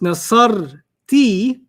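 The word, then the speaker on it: نصرتِ: When it's nasar ti, it rhymes with anti, which is you, the girl.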